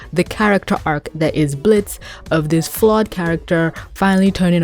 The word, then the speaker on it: Blitzo: He was Blitzo, he silenced the O, but then he goes back to being Blitzo. That's gonna be so cute. Where he finally accepts his name and, you know what, screw it. And now he's having to tell people, there's an O at the end, jackass.